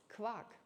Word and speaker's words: quark: So for us, it's quark. It's called quark. It sounds a bit like the quarks of a subatomic particles. It's actually, I think it's maybe spelled the same way.